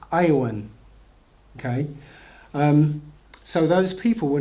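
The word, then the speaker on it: יָוָן: But since there was no J in Hebrew or E, or so Jevan, yeah. So it would have been pronounced Iowan.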